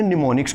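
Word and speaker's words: mnemonics: उसे होते हैं निमोनिक्स अब ये निमोनिक्स क्या होते हैं एम हमारा साइलेंट होता है मैं इसको थोड़ा सा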